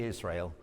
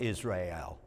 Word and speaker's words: Israel: i agree israel we say israel not israel that's in latin we may say that